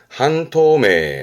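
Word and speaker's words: 半透明: 발음은 그래서 반투명, 한토메, 한토메.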